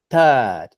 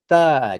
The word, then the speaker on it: third: try pretty good but that sound at the beginning the th sound right it's consonants like this have length to them okay so it's not this third it's this third you see how it